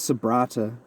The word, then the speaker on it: Sabratha: Desalis were having a picnic on the beach near the city of Sabratha. I think it's Sabrata, but yeah, it's spelled with an H.